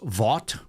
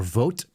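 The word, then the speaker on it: Vought: This is um this is Vault or vote, I guess it's pronounced.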